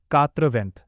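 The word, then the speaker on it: quatre-vingts: French में 4 को कात्र बोलते हैं और 20 को वेंट बोलते हैं। इसीलिए 80 का अफ्रीका फ्रेंच में प्रोनाउंसिएशन होगा कात्रवेंट।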